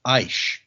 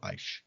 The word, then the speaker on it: Aish: It's Aish. I sh. So Aish.